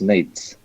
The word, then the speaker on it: Nate: It's pronounced Nate. It's Nate. like Nate, the English name, but plural.